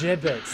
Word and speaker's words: gibbets: Gibbets, that's how you say it.